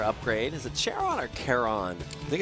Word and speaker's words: Charon: it's Kon Chon I think it's Kon like the like Pluto's moon or it's not no it's Sharon I guess then yeah I wait is that really pronounced Sharon yeah I think Pluto's Moon's pronounced Sharon okay well I mean it's